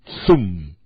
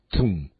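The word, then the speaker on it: צום: identifica al ayuno es la palabra zum se escribe con una t una Z u y la m Tum todos sabemos que el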